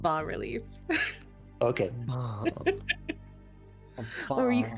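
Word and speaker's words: bas-relief: did not want to see that apparently it's pronounced ba relief okay or you could call it relievo sounds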